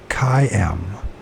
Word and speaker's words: Hoquiam: I'm trying to think how to pronounce Hoquiam.